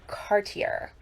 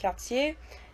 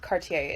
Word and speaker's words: Cartier: And he's like, that's pronounced Cartier. And I was like, no, actually, it's French, so it's pronounced Cartier, but Cartier is fine in English.